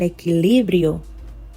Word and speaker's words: equilibrio: Pero cada vez que subía un poco, la olla se movía y lo hacía perder el equilibrio. See where I'm putting the stress. Equilibrio.